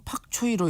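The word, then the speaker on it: 白菜: 뜻으로 백체 했다고 합니다 그 중국말로는 팍 초이로 이렇게 발음이 되는데 근데 사실 중국의 팍초이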